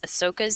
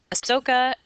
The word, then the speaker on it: Ashoka: This is Asoka's empire. Ashoka, two ways to say it, two ways to spell it. Sometimes spelled with an H right here, okay?